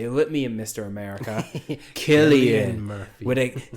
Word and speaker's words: Cillian: America, Cillian Murphy. With think of it like a K, except it's spelled with a C.